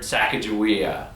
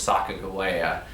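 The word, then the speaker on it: Sacagawea: have called herself was Saka Goa you know it sounds much more Native American than saaka jaia but she was married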